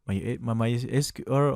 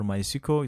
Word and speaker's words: MySQL: Okay, in this case, if you want to install or Apache, MySQL or MySQL, it depends on how you pronounce that, the FileZilla FTP server, the Mercury